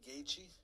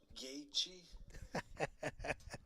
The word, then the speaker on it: Gaethje: How do you pronounce this guy's name? Justin, the highlight Gaethje. Justin, the highlight Gaethje.